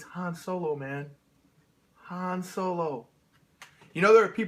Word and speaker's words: Han Solo: sleep so it's it's Han Solo man Han Solo you know there are people that are very picky about that I think I once pronounced it hand solo and somebody got really offended really yeah we are